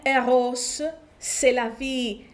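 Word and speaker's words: Rrose Sélavy: Με δύο ρο, θα το προφέραμε Eros, Selavie, ακούγεται όπως το Selavie, είναι η ζωή.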